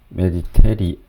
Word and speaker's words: Mediterranean: 발음이 이인데 잘못됐네요. 메디테리언인데 그러나 지중해에서는 금은 였습니다.